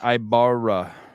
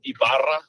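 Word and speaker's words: Ibarra: it's i i i those RS need to be rolled though yeah but iara would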